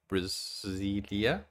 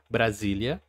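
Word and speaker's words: Brasília: In my country, Brazil, we also have a district which is called Brasilia. Actually, let me say that in the right pronunciation. Brasilia, which is the capital of Brazil.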